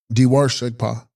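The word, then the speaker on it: bDe bar gshegs pa: Text: Udarva Shegpa, pronounced Diwar Shegpa.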